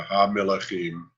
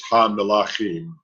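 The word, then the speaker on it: הַמְּלָכִים: And then now there you were kind of turning that schwa into a segol. So you have to watch that. It's not Ha-Melechim, it's Ha-Melachim. It's a mit, not a meh.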